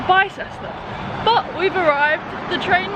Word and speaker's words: Bicester: We've already got a name wrong. It's apparently, what? Bicester. Bicester, and we've been calling it Bicester.